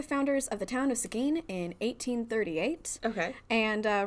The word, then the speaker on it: Seguin: hotel in seguin texas seguin i looked up that pronunciation i was not going to say seguin before i before i saw that pronunciation did not guess that content warning for